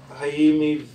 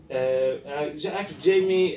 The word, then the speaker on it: Jaime: Now we will actually move to the third presenter, Jaime, Veve. Thank you actually for teaching me the Spanish. I didn't actually know that J is pronounced as in Spanish. Jaime Veve has been working